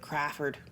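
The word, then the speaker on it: Crafard: confers with Larry craford which is spelled c r a f a r d not like Crawford with a W but craford craford and uh he oh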